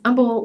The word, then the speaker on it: Humble: Humble or Kingwood and it's Humble with an H i know but that's how they pronounce it we lived there for